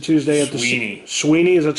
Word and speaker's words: Swinney: Clemson coach Dabo Swinney said Tuesday at the Sweeney, is that how he pronounces it?